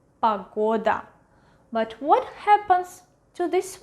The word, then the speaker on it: погода: Погода, погода, погода. Do you hear which vowel is stressed? Yes, correct. Погода.